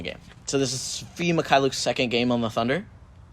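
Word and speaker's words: Mykhailiuk: It's Svi Mikhailuk. McCulloch. McLaughlin. Like, they went everywhere.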